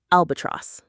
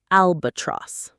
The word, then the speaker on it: albatross: Albatross. Say it with me. Albatross. Albatross. The stress is right at the beginning.